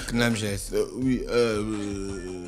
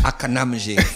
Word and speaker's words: CNAMGS: La CNAMGS. J'ai pas envie de prononcer comme au quartier. Quand même. D'accord. Voilà. Donc, non, au quartier, ils disent la Akanam GS.